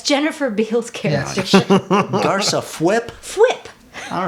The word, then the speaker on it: Fwip: Fwip.